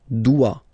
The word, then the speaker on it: doit: Il, elle doit. Final T not pronounced.